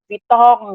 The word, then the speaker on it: Vuitton: kayaknya kok beda banget misalnya Louis vitton gitu kan tulisannya Louis Vuitton Louis ya kenapa Say ia Dwi esnya nggak dibaca terus pitong gitu Nah itu masih mending